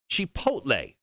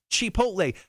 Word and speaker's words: chipotle: this place before it's an honest place it's chipotle oh chipotle now most people would say uh chipotle but